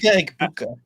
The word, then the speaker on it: Egbuka: Mika Egbuka. There you go. That Buka, whatever. Yes, something like that. Something like drop that. A bunch of vowels on the floor. Mika Egbuka.